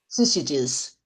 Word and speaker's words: syzygies: His chart of the pleroma outlines a complex hierarchy of spiritual beings arranged in how do I pronounce this? Syzygies. Syzygies.